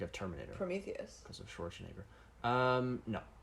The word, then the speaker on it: Schwarzenegger: Because of Schwarzenegger. No. Why do you pronounce his name like that? Schwarzenegger. It's not Schwarzenegger. It's Schwarzenegger. Okay, it's not Schwarzenegger.